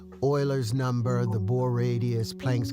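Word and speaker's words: Euler: Terry flowers for for pronouncing Oiler correctly. Like most people that like didn't actually like take a math class, we'll try to call it like Uler.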